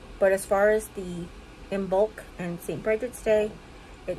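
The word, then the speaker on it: Imbolc: on Bridget day on embolic um no didn't say that right in bulk that's how you say it um February 1st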